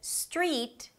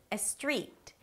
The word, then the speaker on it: street: So instead of 'street', you'll hear 'estreet'.